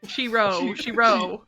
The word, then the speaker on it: Shiro: Shiori. Shioru? Shioru? Shiro. Shiori? Yo. Like Shiro. Shiro.